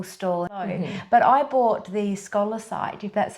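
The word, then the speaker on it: scolecite: had a beautiful store but I bought the scholar site if that's how you say it can I might just um I might just bring that on camera so this is the scholar site does that how you say it yes that's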